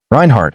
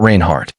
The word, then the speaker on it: Reinhardt: Reinhardt, she said, not Rainhardt.